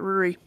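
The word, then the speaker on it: Ruari: I was yeah I would have gone Rory but ruri totally makes more sense no I had R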